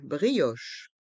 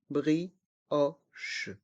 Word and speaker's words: brioche: pain au raisin une brioche une brioche le ha au milieu de brioche se prononce o c'est un haut ouvert brioch le C et le H se prononcent che une brioche une brioche